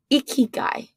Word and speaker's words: ikigai: it wrong and you're going to correct me icky guy yeah is that how you say it yeah